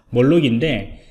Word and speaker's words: Moloch: 이름은 이제 이 발음이요, 몰록이라고 발음을 해야 할까요? 네, 그렇습니다. 그래서 몰록인데, 이 몰록 같은 경우에는 오픈소스 기반의 그 다음에 그 패킷 분석 시스템이라고 보시면 됩니다.